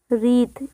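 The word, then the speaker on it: wreath: को डेकोरेट करते हैं इसे कहते हैं रीत इसमें डब्लू साइलेंट होता है बर्फ गाड़ी जिसमें सेंटा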